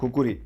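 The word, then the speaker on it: khukuri: spelling बने और आखिरकार आज पश्चिमी देशों में इसे कुकरी बोला जाता है इंडिया में खुकरी और नेपाल में इसे जाना जाता है इसके ओरिजिनल नाम से जो है khukhuri कुकुरी की प्रशंसा और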